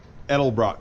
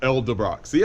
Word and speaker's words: Edelbrock: sale by the way I said it right that time Edelbrock not Elda boxy I'm getting better yeah so